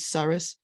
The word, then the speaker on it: tsara'at: It's also related to tsara'at, the Hebrew, for which, if you pronounce it the Ashkenazi way, is saras, which is related to leprosy in the Bible.